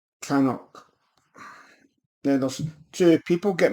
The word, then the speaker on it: Knockdhu: it's not gonna do if that's pronounced properly it's known as canok let us do people